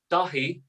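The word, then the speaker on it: Dáithí: so like so if i say dahi is annam don that means my name is in irish save that one more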